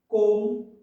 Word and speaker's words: comb: So here in silent B letter words, there are certain words like climb, comb, dumb, and crumb. So these in these words, B letter is silent. So you don't have to pronounce B. You have to say climb, comb, dumb, crumb. Now silent C letter words like muscle.